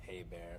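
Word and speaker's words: Hébert: Oh, and by the way, my last name's pronounced Hey Bear, if you care.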